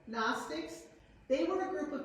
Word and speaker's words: Gnostics: The Gnostics, spelled with G-N, Gnostics, they were a group